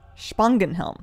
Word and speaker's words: Spangenhelm: Basically pronounced Spangenhelm. The S isn't as sharp. Spangenhelm.